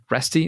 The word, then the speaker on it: Reste: Reste, is that the way to pronounce it? Yep. You're one of the few people to get it right the first time.